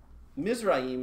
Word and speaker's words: Mizraim: is birthed by his mother own mother now mizraim is actually that's pronounced mizrahim is actually the word for egypt so the